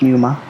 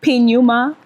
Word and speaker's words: Pneuma: a so everyone's like puma puma it's numa it's numa yeah yeah so numa basically silent p silent AC formed.